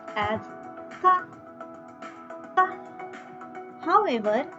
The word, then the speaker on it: ka: In Spanish, K is pronounced as ka, ka.